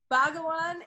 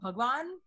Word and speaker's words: Bhagwan: Bhagawan is like the wrong pronunciation, but he's literally calling him. It's called Bhagwan. That's Yeah. how we say it.